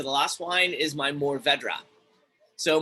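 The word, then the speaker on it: Mourvèdre: it's a spanish variety another wine maker in my area calls it move over deer it's not a very easy variety to pronounce and i understand that so that's kind of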